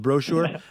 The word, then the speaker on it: brochure: I put the first emphasis on the first syllable of brochure.